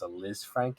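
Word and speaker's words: Lisfranc: articles he had a i believe it's pronounced a liz frank injury and it's essentially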